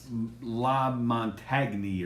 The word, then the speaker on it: LaMontagne: for the chef yes it's spelled la montagne or something like that that's how it's spelled but layman ray lamontagne yeah okay yeah we're